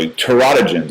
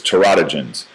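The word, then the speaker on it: teratogens: Terodogens is how you say this. Terotogens.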